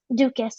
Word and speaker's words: Dukas: Let's give him Dukas. Okay, we'll call him Dukas. So Dukas. Dukas, I like yeah, that. I Dukas. like that. Yes, it rhymes with a doofus, but yeah, Dukas was